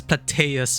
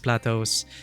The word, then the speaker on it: Plateaus: I pronounced it as Plateus before. I was in my mind, it's like Sanguius Plateus. No, it's Sanguis Plateaus.